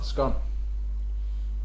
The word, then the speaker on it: scone: Yeah, scone. Scone like gone, not scone like cone.